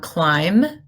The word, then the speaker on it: climb: Which letter is silent in MB? The B. We have climb, limb, and thumb.